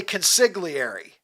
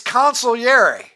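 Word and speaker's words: consigliere: consolary this morning because a lot of people say consigary consiglier, but apparently it's consilier.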